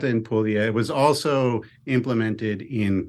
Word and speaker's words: Puglia: Can you give us the right pronunciation for that? Yes, it's Basilicata and Puglia.